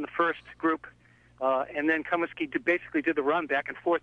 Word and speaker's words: Comiskey: the name of Hugh Comiskey. And in Lowell, you might have heard the name pronounced Comiskey, but it's pronounced Comiskey, I'm told, by my Northern Irish colleagues.